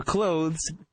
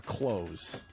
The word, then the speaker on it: clothes: No one uses the TH. Thank you. That's what we tried to tell him yesterday. TH is like the fucking appendix. We all say it like you're closing a door, a close.